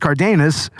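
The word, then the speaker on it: Karedas: amazing and of course you know uh Matt cardus that's how you pronounce it cardus Matt katus Kus matus is like he it's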